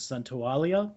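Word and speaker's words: Santaolalla: to give it to gustavo's centaulia i believe is how you pronounce his name uh the music you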